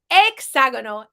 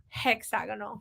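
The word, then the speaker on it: hexágono: exagono is a hexagon now the H in Spanish makes no sound at all every time you see an H it doesn't make a sound that's why we say hola and not hola that's why we say exagonal and not hexagonal right a few shapes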